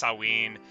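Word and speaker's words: Samhain: have like Pagan stuff I think it's pronounced saen it's it's spelled s m h a i n i I don't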